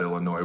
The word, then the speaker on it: Illinois: if you didn't know about Illinois where the S is silent and look at what